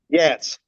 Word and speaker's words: Yats: it's Yats? Yats. Yats. Okay. Instead, because it's no ES.